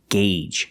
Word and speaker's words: gauge: And remember the pronunciation, gauge. Use the long A sound.